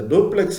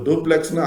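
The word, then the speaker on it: Dupleix: அவரு கூட இருந்தவரு அந்த டூப்ளக்ஸ் இவரை பார்த்து வியந்து பாராட்டி இருக்கார் இருக்காரு இவர் டூப்ளக்ஸ்ன்னு ஆங்கிலத்துல சொன்னாலும் டூப்ளே அப்படின்னுதான் அதனுடைய சரியான உச்சரிப்பு அவர் கூட இருந்தவரு இந்த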